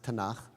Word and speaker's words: Tanakh: mean when I said tanak right the prophets and the writings the Hebrew B when I say Bible I mean the Hebrew Bible which in Hebrew we pronounce tanak I can look at